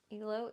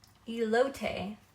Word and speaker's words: elote: Elo is so dank.